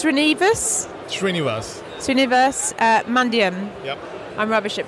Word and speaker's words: Srinivas: Srinivas Mandyam. Yep. I'm rubbish at pronunciation.